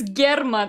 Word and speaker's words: German: It's spelled like German, but it's German. It's the name German, I think.